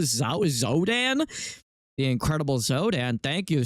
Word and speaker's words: Xodan: Zodan.